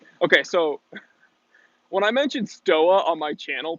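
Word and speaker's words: Stowa: Stoa on my channel, people are like, it's pronounced Stova. Okay, well, are you gonna pronounce BMW BMW? Because that's how they do it in Bavaria. It's not BMW, it's BMW. So yeah, if I was from Germany, if I was from the Deutschland, maybe I'd pronounce my Stova like a Stova, and maybe I'd pronounce my BMW BMW. But since I'm just a stupid American, I pronounce it BMW and Stoa.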